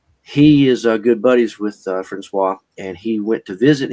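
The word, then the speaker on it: François: Yes, Francois. How his name is pronounced?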